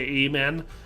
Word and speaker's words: amen: I mean, here in the Midwest, we have the long A, so usually we say amen.